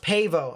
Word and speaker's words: Pavo: no rain over there it's pronounced pavo okay so if you live near pavo over here in georgia